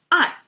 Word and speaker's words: 爱: It's pronounced as "ai."